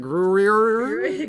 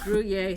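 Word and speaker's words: Gruyère: Sorry, Lily says Gruyere? Gruyere? Yes, okay. that's it. Thank you. There's an R at the end there, so I was like, Gruyere? Gruyere. I think it's pronounced Gruyere. I could be wrong.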